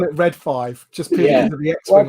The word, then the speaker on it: Read 5: Yeah, I call it Red 5, just purely for the X-Wing on the logo. Yeah, and again, it should be. It's right. It is Red 5. You've pronounced it the same way.